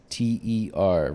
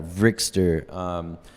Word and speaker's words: Vryxster: it, they read it, they pronounce it wrong. Yeah. Every time so it's all gonna be Vryxster, and that's it's spelled with a V. I was like, oh, V's and X's are cool, so I'm gonna fucking make something cool like that. Vryxster, Vryxster. It sounds like trickster, but with a V instead,